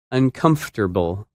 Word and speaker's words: uncomfortable: That word is uncomfortable. And it's opposite comfortable. When you say this word, you do not pronounce some of the letters that you see in the written word.